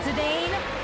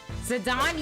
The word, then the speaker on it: Zidane: It's not Zedane. Whoops. Just been calling him his wrong name the entire time. Zidon.